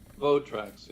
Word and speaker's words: Votrax: Here, Carlos actually published a little video on Facebook showing off the old Votrax, or is it Voltrax, or how do you pronounce that? Votrax, yeah.